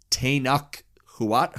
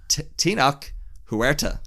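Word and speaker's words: Tenoch Huerta: good superhero movie needs a good villain and tanak huwat or how do you pronounce it I'm so sorry Horatio no tinak Huerta Huerta yeah as as Neymar is fantastic from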